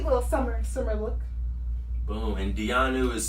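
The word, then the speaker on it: Diyanu: brand called Dianu.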